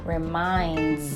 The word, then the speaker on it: reminds: word reminds the last the last sound or the s sound is pronounced more like a z so it's like reminds your mind all right